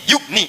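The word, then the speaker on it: يغني: Jadi yugni cepat. Ada ya bacanya panjang. Yugni. Tidak ada ya baca cepat yugni.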